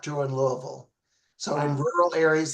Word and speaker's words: Louisville: It's Louisville, not Louisville. Louisville. I guess I sounded like a total Californian. Louisville, Kentucky. We try to make it one syllable, Louisville. Like it's not Louisville.